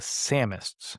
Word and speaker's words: Samist: Marin Nolles to the Samists. So Samist like the Sam like Sam Wise Gamg like summer of Sam.